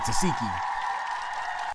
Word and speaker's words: Tesehki: That's how you say her name, Tesehki.